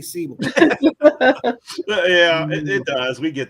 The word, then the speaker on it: Seibel: wrong I always tell the best best thing to remember with my last name is it rhymes with Bible right C A lot